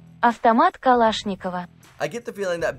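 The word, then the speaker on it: Автомат Калашникова: otherwise known as the Avomat Kalashnikov, abbreviated down to AK, and I get the feeling our editor's gonna have to put the correct pronunciation for that one as well. Avtomat Kalashnikova.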